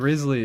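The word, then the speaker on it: Wriothesley: Have I I swear I always say Rizley. I like never say Rio. I very rarely say Rio because I think Rizley is is fairly easy to pronounce. It's just insane how he spells it.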